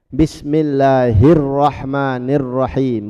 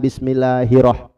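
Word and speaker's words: بسم الله الرحمن الرحيم: Bismillahirrahmanirrahim, bukan bismillahirrah. Jangan. Hirrahman ada tasdid di fauqar ra, di atas ra.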